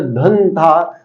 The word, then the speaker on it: धंधा: हम बोलते धन था तो धंधे में दोस्तों कौन सा उच्चारण दे रही है यहां पे अनुस्वार तो भैया कैसे बताओगे आप तो इस अनुस्वार के बाद थोड़ा द और द के परिवार का पांच अक्षर कौन सा एन जान की जो